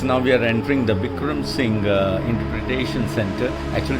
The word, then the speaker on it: Bikram: Now we are entering the Bikram Singh Interpretation Center. Actually it's a museum, and if you see the spelling, it's written B-E-E-K-R-U-M. Actually it should be Bikram and Bikram.